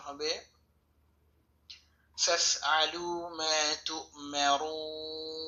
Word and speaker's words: تؤمرون: আছে হামজা সেটাকে ধরেছি মা তু মিম জবর মা রাও পেশে বাম পেশে যা সওয়াল ওয়াও টেনে পড়তে হবে নুন জবর না তু মারুনা অক্ফ সময় নুন সাকিন হবে এবং এখানে তিন লম্বা করতে হবে, উচ্চারণ হবে فافعلوا ما